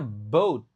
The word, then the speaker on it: boat: Nah, ini ingat cara bacanya boat bukan bot. Kalau bot itu jadinya robot. Ini boat.